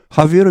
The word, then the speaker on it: Javier: money, President-elect 대통령 당선자 하비에르 밀레이, 스페인어에서는 이 저희가 H로 발음납니다.